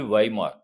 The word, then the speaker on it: Weimar: This is the pronunciation will be Weimar.